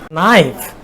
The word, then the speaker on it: knife: Knife.